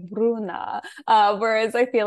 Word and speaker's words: Bruna: You say Bruna, yes? Oh my God, I don't want to butcher the pronunciation. Bruna.